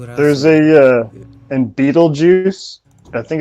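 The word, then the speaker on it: Betelgeuse: drugs don't do it there's a uh and beetlejuice i think it's one of the stars in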